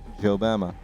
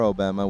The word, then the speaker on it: Jobama: It is Jon Snow and Jobama. Or Obama with a silent J.